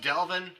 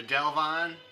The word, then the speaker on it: Delvon: I've heard it pronounced Delvin or Delvon. I haven't heard Delvin himself actually pronounce it. I've usually said Delvon, but Delvin or Delvon Lamar Organ Trio.